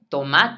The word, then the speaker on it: tomate: soil not soul soul tomate de notice there's an e at the end and in English we would have left it silent but in Spanish we